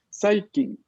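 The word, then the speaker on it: 最近: Saikin. Aquí no hay ninguna regla de vocal larga, entonces es Saikin.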